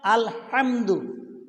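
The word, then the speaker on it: الحمد: রাব্বিল আলামিন, এখানে তোমার আলহামদু কি বলতে হবে? আল হামদু, হা হা অক্ষরটা উচ্চারণ করতে হবে। হা বলো, অর্থ পরিবর্তন হয়ে যাবে।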